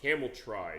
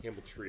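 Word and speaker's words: Cameltry: Nintendo home version of Camel Try. Not Camel Tree. I call it camel tree, but it is spelled as it looks as far as how it's spelled out.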